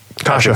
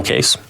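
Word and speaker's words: Kase: I know Andre Case is out. Kasha. He's no Case. It's spelled K-A-S-E.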